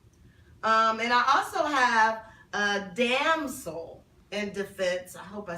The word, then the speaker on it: Damsel in Defense: And I also have a damsel in defense.